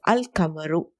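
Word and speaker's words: القمر: When al is prefixed to a noun beginning with a lunar letter, the lam of al is clearly pronounced. Al-Kamaru is pronounced as Al-Kamaru. Lam is pronounced.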